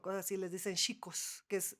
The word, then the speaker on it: Chico: En Brasil a los franciscos, en lugar de decirles pacos o cosas así, les dicen chicos, que es C, como chicos, ¿no? Nada más que pronuncian la CH como sh.